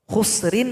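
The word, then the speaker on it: خسر: Contoh, khusrin menjadi khusr. Huruf ra yang rin itu kita sukunkan karena didahului oleh huruf sin yang sukun dan huruf kha yang dhammah, maka dibaca tebal. Khusur.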